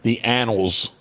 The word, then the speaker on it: annals: It's sort of like anals, but annals.